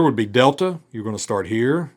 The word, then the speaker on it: delta: Delta is going to have a D sound. Dog, door. Same pronunciation as we have in English.